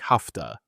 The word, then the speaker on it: have to: In natural spoken English, have to often sounds like hafta.